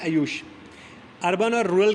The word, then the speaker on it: आयुष: इसमें N silent है, ये हो जाता है आयुष।